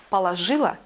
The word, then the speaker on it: положил: И ударение в таких словах никогда не падает на корень, а всегда только на глагольный суффикс «и». «Положила», «положил».